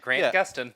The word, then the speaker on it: Gustin: Yep, Grant Gustin.